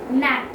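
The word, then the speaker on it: gnat: G is often silent before N and M.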